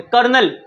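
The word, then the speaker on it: colonel: कर्नल, कर्नल की spelling कोई ना पूछे।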